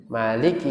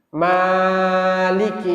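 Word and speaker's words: مالك: baca pagi ini ya Maliki yaumiddin boleh Panjang boleh pendek Maliki boleh Panjang boleh pendek Maliki tapi panjangnya itu pun cuman dua harakat enggak boleh panjang-panjang juga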